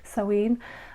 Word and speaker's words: Samhain: So technically we have the first one, which is Samhain, which is spelt Samhin, but it's a Celtic word, which is why it's pronounced Samhain.